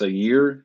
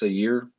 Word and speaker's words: Zhaire: the santa's room so years how do you pronounce it it's a year it's a year smith uh he's played in philly for the